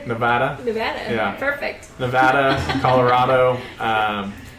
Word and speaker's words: Nevada: in Colorado thank you for saying it correctly Nevada Nevada perfect Nevada Colorado um uh Florida sweet